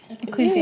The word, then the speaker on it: Ecclesiastes: Ecclesiastes.